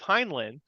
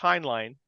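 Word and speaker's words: Heinlein: line um like I always thought it was heinlin but it's pronounced hin line so uh but um but yeah as far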